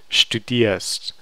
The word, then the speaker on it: studierst: And this is a mid-syllable ear, so it's not going to really be articulated.